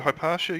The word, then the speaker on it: Hypatia: So Hypatia, is it Hypatia you pronouncing it?